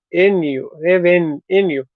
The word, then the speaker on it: revenue: Revenue, revenue. The second E, Okay, listen to me say the word revenue. revenue. So the first E, Yeah, the first syllable, mm, Okay.